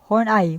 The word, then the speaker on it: Horney: Karen Horney, pronounced Horney, was born in Hamburg, Germany on September 1885.